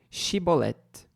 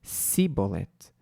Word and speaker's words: chibolete: homem não gasta eles o mandavam dizer chibolete se eu era de Efraim dizia simbolete pois o povo de Efraim não consegue pronunciar essa palavra corretamente ou seja como é